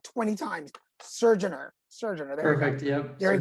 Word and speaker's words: Surgener: Surgener.